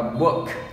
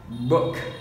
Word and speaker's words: book: Bây giờ chúng ta đọc lại, đọc là ua, đọc là book, book, đúng rồi, book, rất là chính xác.